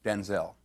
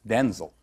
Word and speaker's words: Denzel: Because, wait a minute, because my name's not pronounced Denzel. My name's pronounced Denzel. Oh. I'm Denzel Jr. My father's Denzel Hayes Washington Sr. I'm Denzel Hayes Washington Jr. My mother would say, "Denzel," and we both show up. So she said, "From now on, you're Denzel." Well, that's how it got pronounced Denzel.